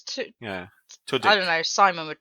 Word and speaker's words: Tudyk: There's no, it's got no R in it. It's Tudyk.